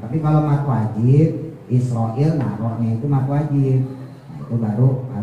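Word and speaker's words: إسرائيل: penyakit itu entar ketemu israil gitu lagi. Israilat gitu i-nya panjang israil. Israil panjang isroilmati.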